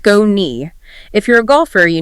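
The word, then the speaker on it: Skoni: That's spelled S K O N I pronounced sconei.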